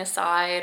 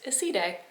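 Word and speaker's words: Iside: They posted it on Instagram, the correct way to say it, because I was always saying aside, or I don't know. I was always saying aside, but apparently it's Isside.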